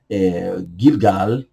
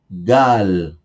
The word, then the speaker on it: Gilgal: Então, Gilgal, uma palavra do hebraico Gilgal, eu vou falar mais devagar para que você possa pronunciar. Então, português, Gilgal. Gal, ok? Mais uma vez, Gil, Gilgal. E junto, normal, Gilgal.